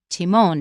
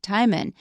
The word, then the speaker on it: Timon: little clip from the movie they'll probably mention Timon not time in so that's one thing I said there were